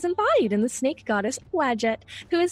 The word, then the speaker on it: Wadjet: And that was how you say it, by the way. Oh. Wadjet is a patron of pharaohs and the races.